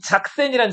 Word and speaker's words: 작센: 독일 가시면 작센이란 지방이 있거든. 작센. 자, 작센을 이렇게 써요. 이렇게. 예. SE 아니다. SX예요. 이거를 그 독일어로 읽으면 작센 이렇게 읽는데 영어로는 이걸 뭐라고 읽어요? 그냥 섹슨이라고 읽어요.